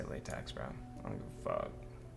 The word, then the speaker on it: LaTeX: to uh mark down some people pronounce it latac but I say latx bro I don't give